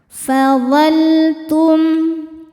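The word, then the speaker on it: فظلتم: Dibacanya jelas ada lam sukun yang di hadapannya bukan huruf lam atau huruf ro. Fadaltum. Selanjutnya ada izhar syafawi. Karena mim sukun tidak menghadapi mim atau ba melainkan menghadapi ta. Cara bacanya mim sukun ini dibaca dengan jelas.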